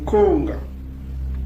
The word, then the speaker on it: Konga: Konga, Konga. On lève le N là, le N là c'est juste nasal. Konga, on prononce Konga, Konga.